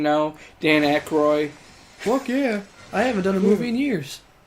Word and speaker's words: Aykroyd: And Dan Aykroyd is the only one that's ever wanted to continually do it.